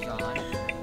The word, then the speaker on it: Jean: Hi boss This is John It's spelled as Jean but it's pronounced as John and I would just